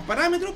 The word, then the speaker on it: parámetro: ¿Cómo se lee con un acento en la R, viejo? Mira, viejo. Parámetro.